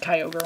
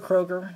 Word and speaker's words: Kyogre: it on the ground let's have kyogre on it or a kroger not totally sure how everyone sells it in the fandom kroger is more like the grocery store it can pronounce it either way both ways is fine okay good tcg wow